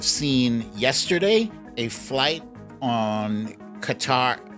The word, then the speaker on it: Qatar: yesterday a flight on qatar cutter gutter i think it's pronounced gutter on gutter airlines uh